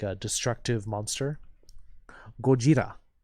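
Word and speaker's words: ゴジラ: Gojira. Yes, Beatlesman's pronouncing it correctly. Gojira. Godzilla in Japanese is Gojira.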